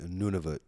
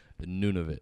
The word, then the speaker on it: Nunavut: Just so you know, you have to say Nunavut. Nunavut. Because if you say it wrong, I'll get it. Nunavut means our land. There's a way you can say it where it means shit.